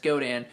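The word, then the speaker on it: Godin: of questions about this guitar this is a godan g-o-d-i-n pronounced godan multi-act nylon they're made right in canada they're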